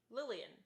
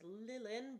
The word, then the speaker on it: Lillian: I say my bad Lillian Lillian okay I want to keep that in mind um I was not aware that that was how you pronounced Lillian I thought it was lilan but Lillian makes more